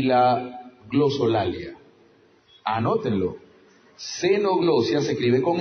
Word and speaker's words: glosolalia: La xenoglosia y la glosolalia. Anótenlo. Xenoglosia se escribe con X, la xenoglosia comienza con X,